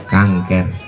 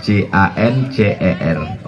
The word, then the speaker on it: cancer: menggumpal di dalam, jadi kanker. Tulisannya C-A-N-C-E-R. Orang barat membacanya cancer. Cancer. Payah orang kita bilang cancer, kanker.